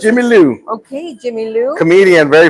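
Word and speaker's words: Jimi Lou: Ji is J M I Lou. Jimmy Lou. Oh, is that how you pronounce? That's Jimmy Lou.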